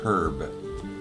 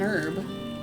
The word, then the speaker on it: herb: is time is an herb not time is a herb well you say time is an herb but the that H is silent so it makes sense